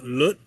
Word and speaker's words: Lot: His name would be pronounced uh Lut uh in Hebrew.